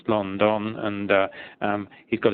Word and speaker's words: London: it's not pronounced as as English people would pronounce the city London it's London and uh um he's got a general theory